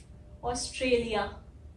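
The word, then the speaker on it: Australia: है साउंड, ए, ऑस्ट्रे, तो ये हो गया ऑस्ट्रे। और फिर एल आई ए को हम कैसे बोलते हैं? वही बात होगी, यहाँ पे वाई लेटर तो है नहीं, लेकिन साउंड आ रही है य की, और इसीलिए ये हो जाता है लिया, ऑस्ट्रेलिया, है ना।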